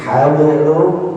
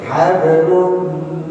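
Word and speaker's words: حَبْلٍ: Jadi hablum langsung saja hablum, bukan habl, enggak sama seperti itu ya, karena dia sughra ya.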